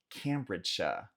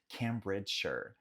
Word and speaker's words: Cambridgeshire: Próximo condado, Cambridgeshire.